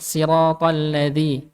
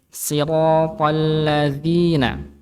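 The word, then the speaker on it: صِرَاطَ ٱلَّذِينَ: Berikutnya menghilangkan sifat tawasud pada huruf lam ya, jadi ketika baca siratal, nah jangan bacanya siratal ladzi, tapi siratal agak sedikit ditahan nggih, agak sedikit diseret sedikit. Siratal ladzina gitu nggih.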